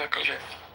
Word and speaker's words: Yakov: Is it Yakov? Am I pronouncing that correctly? Yeah, Yakov.